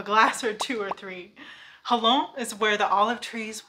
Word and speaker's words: Xalo: share or shame but in modern day the pronunciation became the J sound in Spanish which sounds like an H in English so either way you spell it we say hello but then I read